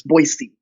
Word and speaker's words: Boise: boy see they see I thought was Boise like you know it's Boise but it's Boise tea like it's